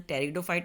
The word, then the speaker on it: Pteridophyta: First is division Thallophyta, division Bryophyta, division Pteridophyta, इसमें P silent है, division Angiosperms and division Gymnosperm.